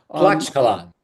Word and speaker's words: Tlaxcala: Yeah, going back to, I don't know if I can pronounce it, is it Tlaxcala? Tlaxcala, yes.